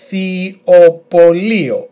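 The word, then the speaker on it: ιχθυοπωλείο: And then lio, emphasis on I. Altogether, ich. Ichthyopolio, ichthyopolio. Quite a difficult one for you, I know.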